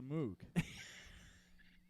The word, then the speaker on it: Moog: And actually, you spell it. That's the way you're supposed to say it.